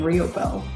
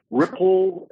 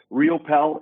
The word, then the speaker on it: Riopel: You hit it right on. So you did really well with that, Megan, because I get all the different pronunciations like Riopel, Ripple, and so Riopel is dead on.